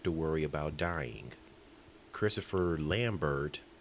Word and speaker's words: Lambert: worry about dying Christopher Lambert although according to him it's lambar since the tea is silent shows up and he